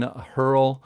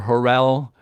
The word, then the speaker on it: Hurrell: His name is Stephen Hurrell or Hurrell, and if you ask him which pronunciation, he says it doesn't matter.